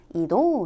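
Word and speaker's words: 移動: 따라서 아래 의 ' 움직이는 ' 이라는 글자 와 결합 하면 ' 이동 ' 이라는 단어가 되는데 , 이는 ' 이도 ' 라고 발음 됩니다 .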